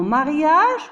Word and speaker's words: mariage: Alors, dans mariage, on a prononcé la lettre G, J. C'est pas G, comme les autres mots, gâteau, gardien, gomme.